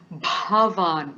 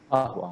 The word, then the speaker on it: bhavan: say, with the pronunciation, the bha has to be a little more forceful for many. Okay, so bhavan. Would you like to say that, everybody? Bhavan.